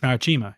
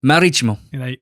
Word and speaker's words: Marítimo: What is it? How do you say it? Marítimo. It's exactly the same thing as what I said. You just said it faster. Marítimo. No, we're putting the emphasis on different I's there.